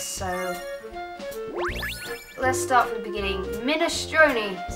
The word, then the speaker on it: minestrone: on a PS so let's start the beginning minestrone is how you say it I don't like